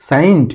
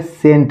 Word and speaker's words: saint: साइंट नहीं, ये है सेंट लिखा हुआ है।